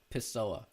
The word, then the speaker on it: Pessoa: You need to pronounce her surname Pessoa or something like that. is There's no I in You're right, Pessoa.